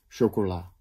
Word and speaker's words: chocola: het gips factuur en de klemtoon kan liggen op de eerste lettergreep panama op de tweede lettergreep pyjama de derde lettergreep chocola op al die lettergrepen